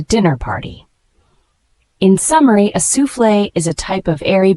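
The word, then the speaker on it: soufflé: sufle is a noun it is pronounced as sule a sule is a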